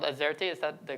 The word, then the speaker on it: AZERTY: I heard it's called Azerty. Is that the correct pronunciation?